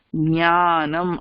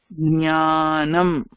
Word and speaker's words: ஞானம்: ஞ ஞானம். அதுல ஒரு சின்ன ஒரு க சவுண்ட் இருக்கும் in the beginning but it's not fully audible. ஞானம்.